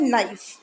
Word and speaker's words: knife: Children इसमें K जो है वो साइलेंट है, K इज साइलेंट, ये K साइलेंट है, तो इसको हम कैसे पढ़ते हैं, नाइफ, KNIFE, नाइफ.